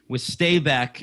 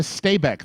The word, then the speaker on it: Stabæk: Yes, it is, and it's in the problem with Stabæk and pronouncing it is that the second syllable has one of those things where the A and the E are put together as one, and the club is